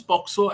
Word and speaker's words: POCSO: says no Poco is people mispronounce poxo and they call it posco by mistake but nothing else yeah